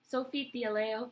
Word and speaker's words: Theallet: And designer Sophie Theallet, I think she's French, so I think it's Theallet. She wrote an open letter, which I'm going to read some of it. She posted it on Twitter. The Sophie Theallet, that's how you pronounce it, brand stands against all discrimination and prejudice.